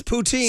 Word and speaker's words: poutine: It's poutine.